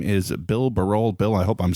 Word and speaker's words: Barol: I think I was doing Barol for a while, but Barol is correct.